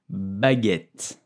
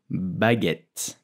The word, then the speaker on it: baguette: So, how do you pronounce the name of this delicious bread? In French, we will say baguette, baguette, baguette.